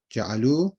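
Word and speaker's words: جعلوا: Ja'alu. Though you don't pronounce this alif, it's just there. But you just say ja'alu, and it's plural, like muslimuna.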